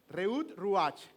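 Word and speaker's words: רעות רוח: porque es algo como reut ruach óyelo en en pronunciación hebrea reut ruach que literalmente es algo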